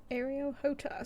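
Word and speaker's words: Areo Hotah: e t a h aroh hot so literally exactly how it sounds okay his other chapters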